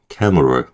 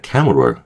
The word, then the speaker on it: camera: M하고 R 중간에 있는 슈아를요. 거의 발음이 안 날 정도로 M과 R을 붙여서 그 발음을 해 준다라고 생각하시면 좋을 것 같아요. 그래서 케라 그 억지로 어 넣지 마시고 camer cameral요 정도 되는 거야. cameral 요렇게요.